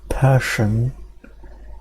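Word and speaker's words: Persson: remember reading somewhere that it's pronounced like passion but with an E so like passion okay so Minecraft the unlikely tale of Marcus Notch person and the game that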